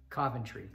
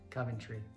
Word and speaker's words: Coventry: then the last one Coventry Coventry yeah I never hear America and say that right we always say Coventry or something like Coventry Coventry it's a Coventry okay very strange yeah